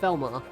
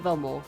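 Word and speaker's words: Valimar: Okay, so it's pronounced Velmar. Not Velmore, Velmar.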